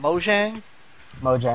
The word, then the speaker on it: Mojang: They have mentioned that they want to get Minecraft on here, and the thing is that how do you pronounce the developer's name? Mojang.